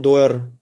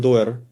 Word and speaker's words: Doerr: someone calls him John Doerr. It's written in English as D-O-E-R, I think, with a double R. I write Doerr, some say Doerr, well, it doesn't matter. John Doerr, you can say it like that, introduces OKR at Google.